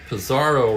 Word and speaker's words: Pizarro: Pizarro rhymes with Bizarro.